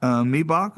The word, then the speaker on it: Miebach: Matt Miebach, is that the correct pronunciation, I hope?